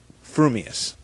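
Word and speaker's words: frumious: gifts a perfectly balanced mind you will say fumus supposing that when pistol uttered the well-known words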